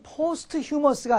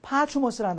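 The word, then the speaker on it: posthumous: 예.이 이 발음이 포스트머스가 아니고 파추머스라는 단어인데요.이 포스트라는 말은 뒤를 나타낼 때 쓰이는 말이에요.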